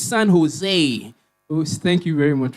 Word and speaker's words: San Jose: It's not pronounced San Jose. The J is silent. It's San Jose.